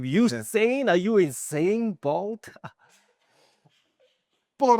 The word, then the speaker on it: Usain: You don't have to be the next Eugene. How do you say his name? Bolt? Usain Bolt.